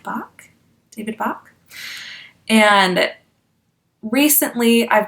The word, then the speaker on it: Bach: Women Finish Rich by David, I believe it's pronounced Bach, David Bach.